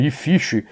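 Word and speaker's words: IFCH: Se pronuncia a sigla como se fosse uma palavra, IFISH.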